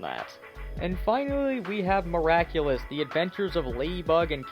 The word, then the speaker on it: Miraculous: song is in English they mispronounce miraculous as miraculus so if nothing else just